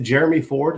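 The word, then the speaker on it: Jerome Ford: Is it Jeremy Ford? Is that his name? Yeah. Okay. Yeah. It's spelled like Jerome, but I'm with you, Jeremy.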